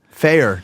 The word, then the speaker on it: Feyer: dang ladies and gentlemen fair check it out f ey er what's your insta handle